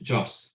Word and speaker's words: Jose: just as a correction my first name is pronounced Joss so the E is not pronounced so oh no issue